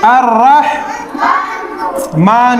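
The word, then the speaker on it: الرحمن: क्या हो गया लाम नहीं पढ़ा जाएगा लाम साइलेंट है अ रहमान में डायरेक्ट रा में अलिफ मिलेगा अलिफ रा जबर अर चकि रा पे तसदी है तो रा एक बार और पढ़ा जाएगा रा हा जबर र मीम ख जबर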